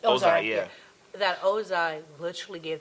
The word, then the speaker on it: Ozai: Ozai, yeah.